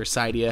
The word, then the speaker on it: Cydia: So this is called Initialized, and you can download it inside of Cydia or Cydia, however you choose to pronounce it.